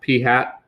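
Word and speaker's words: p̂: that this is pronounced p hat it's got the little symbol on the top um and that is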